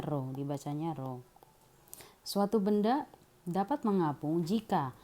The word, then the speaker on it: rho: Rho ya, seperti huruf P tapi dibacanya rho.